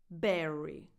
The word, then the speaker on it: Berry: Halle Berry. Her first name and her last name end with the exact same vowel, a tense E sound.